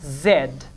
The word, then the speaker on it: Z: way pray for J the last letter of English language is Zed or in American English dependence it z let me tell you